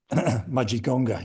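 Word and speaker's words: Mudgegonga: Mudgeonga is the pronunciation you're looking for.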